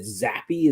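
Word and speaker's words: Zappe: The owner said that they really liked, is it Zappy? Is that how you pronounce his name?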